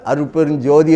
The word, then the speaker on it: அருட்பெருஞ்ஜோதி: சோதி என்று எழுதி இருந்தாலும் நாம் சொல்லுகின்ற போது அருட்பெருஞ்ஜோதி என்று தான் படிக்க வேண்டும் என்ன சோதி என்று படிக்கிற நம்ம சீர்திருத்தவாதிகள் எல்லாம் சீர்திருத்தம் நூலம் அப்போ எப்படி எழுதினாலும் அருட்பெருஞ்ஜோதி என்று எழுதினாலும் அருட்பெருஞ் இஞ்சி போட்டு சோ போட்டாலும் அந்த உச்சரிப்பு ஜோதி என்று தான் வரவேண்டும் அதான் இலக்கண மரபு அது